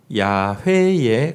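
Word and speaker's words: 야훼: 이십니다 한편 저 이게 여호와 라고 되어있는데요 음 여호와 라는 것은 이스트 나는 스스로 있는 자니라 예 정확한 발음은 아닙니다 어이 발음은 정확한 발음은 야외에 가까웠을 것이라고 어학 짜 들은 이야기 합니다 야외 웬 대에 근데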